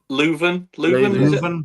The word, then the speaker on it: Leuven: pronunciation. O-H Leuven? Leuven.